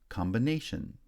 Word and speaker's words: combination: third syllable and finally combine becomes combination where primary stress on the second syllable in combine is shifted to the third syllable in combination secondary stress then is